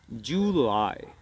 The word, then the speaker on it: July: de junio y decimos July, July. July, July. July. Muy bien, te das cuenta que la E, la L sigue pronunciándose en la garganta.